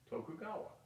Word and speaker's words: Tokugawa: the uh the Tokugawa it's how they say it to cou GA wad Tokugawa the Tokugawa ruled from